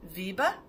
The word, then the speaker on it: Wiebe: And there's a very, very lovely driver, and his name is Wiebe, and rhymes with Liebe.